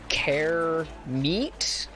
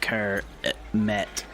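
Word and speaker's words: Kermit: then he's like ah you must be care meat it's pronounced ker met ribbit uh oh oh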